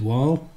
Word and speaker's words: Wahl: How do you pronounce it? Wahl.